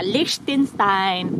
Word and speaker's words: Liechtenstein: Naman kami sa, how to pronounce, Liechtenstein. Yeah, Liechtenstein.